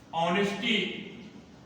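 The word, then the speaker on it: honesty: अब तीसरा देखिए, अब तीसरा है, कभी कभी कुछ शब्द ऐसे होते हैं जिसमें यच साइलेंट होता है, अर्थात यच का उच्चारण नहीं करते हैं। जैसे यहां पर देखिए, आवर, ऑनरेबल, ऑनेस्टी।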